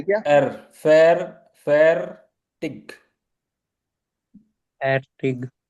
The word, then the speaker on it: fertig: या आप इसको यहाँ पे जो एयर Fertig. है वो बहुत Fertig. लाइट प्रोनाउंस होता है। सो इनिशियली आप फैटिक भी बोल सकते हो, अदरवाइज फैटिक। फैटिक फैटिक। एयर बहुत ही लाइट रहता है, इट्स नोटिसेबल नहीं रहता इतनी आसानी से।